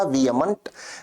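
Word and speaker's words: vehement: शब्द है शब्द शब्द वियमंट को बोलने में एच को नहीं बोला जाता। उच्चारण होगा वियमंट।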